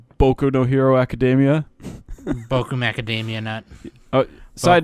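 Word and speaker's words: 僕のヒーローアカデミア: are Sideshow Bob voice actually it's pronounced boku no hero academia boku macadamia nut Oh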